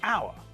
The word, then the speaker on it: hour: our is pronounced as our we don't pronounce the H at the beginning of the word so when we say